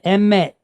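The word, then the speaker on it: אמת: So we have an M, an E sound, and then a T, met. So we have the emet, the emet.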